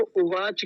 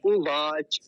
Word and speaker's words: उवाच: क्या है उवाच उवाच कुछ लोग क्या बोलते हैं इसको उवाच कहते हैं उवाच उवाच नहीं होता उवाच ऐसा बोलेंगे तो यह